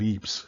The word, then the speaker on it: Ypres: the Second Battle of Ypres. Yes, it's pronounced Ypres. It's French. It doesn't have to make sense.